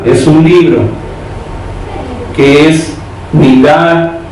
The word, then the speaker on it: Midá: Si quieres anotar, Midá Keneged Midá en hebreo, M-I-D-A, Midá, lleva tilde en A.